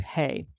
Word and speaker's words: ה: to that God code symbol which is pronounced hey and it offers here